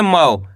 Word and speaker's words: मौ: के साथ लगी तो अपन मा का उच्चारण कैसे करेंगे? मऊ। कैसे करेंगे? मऊ। आपको करने के औ का उच्चारण जोड़ना है। ये औ की मात्रा है। यहां पे म में औ की मात्रा लगी तो मा से मौ।